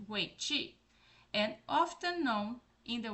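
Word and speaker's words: 围棋: China's most enduring game is Wei Qi, pronounced like Wei Qi, and often known in the West by a variant of its Chinese name, Go.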